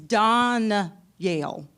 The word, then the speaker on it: Danielle: The two L's. It's Don- Yale. Whatever. Pronounced in French, right? It's kind of sort of. Sort of. Yeah. Don- Yale. Hold on, man. Danielle.